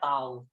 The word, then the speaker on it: tau: Simbolnya seperti ini, cara bacanya tau.